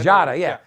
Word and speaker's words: Giada: Jada, yeah. But it's spelled with a G, yeah.